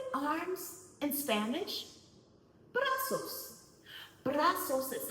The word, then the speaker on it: brazos: Brazos. Brazos is how you say arms in Spanish. Brazos. Brazos.